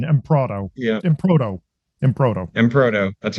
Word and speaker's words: Emproto: Right, it's the American pronunciation. Emproto.